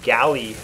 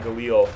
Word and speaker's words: Galil: rolling with the uh The Galley I believe is is how it's pronounced not Galil I think it's the galley uh with a silencer